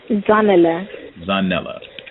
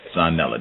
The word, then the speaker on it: Zanele: Can you say your name for me one more time so I can pronounce it correctly? Zanele. Zanele.